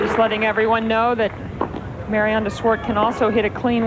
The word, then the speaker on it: Mariaan: I'll probably point out we pronounce DW's Christian name Maran in Australia we'd say Maryanne but it is pronounced Maran 15 well that's a